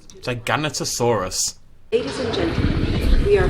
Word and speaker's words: Giganotosaurus: and named it, as far as I'm aware, pronounces it Giganotosaurus, so I think that's how we should pronounce it, generally speaking.